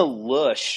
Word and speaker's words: Loesch: The other thing, Dana Lush or Lausch or whoever the hell that woman is, Lash. that's like honest Lash. You don't pronounce. I'm not going to pronounce Lash.